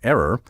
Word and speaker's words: err: Although some commentators argue in favor of err on the grounds that it links the verb phonically with the noun error, many cultivated speakers and current authorities still prefer err, and I stand firmly with them.